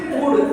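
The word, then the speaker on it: could: यहां क्या आ गया कुड एल इसमें साइलेंट रहेगा एल नहीं बोलेंगे इसको कुड बोलेंगे सी ओ यू एल डी तो एल साइलेंट रहेगा एल नहीं बोलेंगे कुड पढ़ा जाएगा क्लियर है अब देखो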